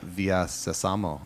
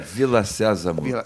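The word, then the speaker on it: Vila Sésamo: Brazilian edition of Sesame Street, which technically is Via Sésamo, if I'm pronouncing it right. Yeah, Villa Sésamo.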